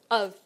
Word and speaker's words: of: We might just use the reduced vowel, our old friend schwa, instead of clearly saying the word of.